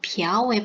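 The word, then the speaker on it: 朴: 그래서 박씨의 경우에는 이 비아오의 발음을 써야 되고 부나 포의 발음은 사용하지 않는다는 것을 꼭 주의해 주시기 바랍니다.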